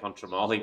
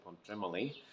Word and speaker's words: Pontremoli: little bit tremoly really we've been saying panchamoli but I think the locals say pontremely maybe it's our Aussie